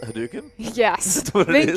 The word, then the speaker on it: Hadouken: Hadouken?